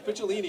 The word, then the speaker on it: Picciolini: He also commended me for pronouncing his name right. Because Picciolini, it's not easy.